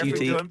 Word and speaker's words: Futique: Futique? Yeah, Futique.